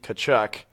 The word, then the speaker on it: Tkachuk: the Coyotes had Keith cut cut can never pronounce his name keith tkachuk the cha yes but you're totally right tanner